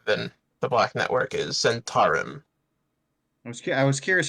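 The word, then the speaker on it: Zhentarim: goes by other than the Black Network is Zentarum. I was curious how you were going to pronounce it. I assume it's Zentarum.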